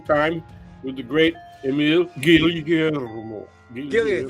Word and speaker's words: Guillermo: and it's afternoon, and we're spending time with the great Emil Guillermo. Gillian, thank you for pronouncing it the Filipino way.